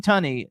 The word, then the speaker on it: Tunney: other film we spoke about he plays gene tunney is that how you pronounce his name honey t-u-n-n-e-y attorney there's gene